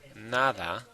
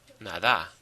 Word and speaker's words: nada: the word naada naada nada nothing naada where's the stress naada or NADA well of course it's NADA so yes like I